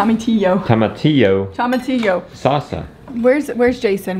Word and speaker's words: tomatillo: do you say it the ELLs are like a why so much here come a to you tomatillo Tomoki Oh dad just say it toma tio okay I'm a - yo